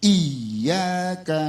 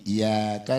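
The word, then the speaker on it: إِيَّاكَ: apalagi sering buru-buru salatnya tasdid di iyaka na'budu WA iyaka nastain kalau tasdid di dalam suratul Fatihah ada 14 kadang-kadang kita bacanya begini iaka na'budu wa iyaka nastain berarti bukan 14 ada tig 13 satunya sudah dibuang tuh tadi terus ngingatin lagi sama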